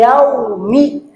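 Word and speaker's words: يوم: Yau ini gak boleh panjang. Ya. Jadi jangan begini. Maliki yau. Nah itu kelebihan. Tapi maliki yaumi. Maliki yaumi.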